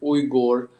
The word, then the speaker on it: Uyghur: I mean, I think it's much difficult for Americans, Europeans to pronounce Uyghur. I think the closest you can get it is Uyghur, which is still a bit off.